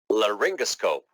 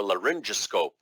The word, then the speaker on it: laryngoscope: Laryngoscope, or laryngoscope, as some people pronounce.